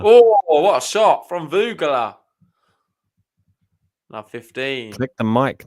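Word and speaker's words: Vögele: So Vance just checked on the WTA website because all the pronunciations are on there apparently, and it's pronounced Voegele. Voegele.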